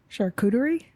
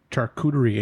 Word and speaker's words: charcuterie: Charcuterie is pronounced. Delicatessen. All right. Delicatessen is the English translation of the word because it is a French word, and it is pronounced Charcuterie.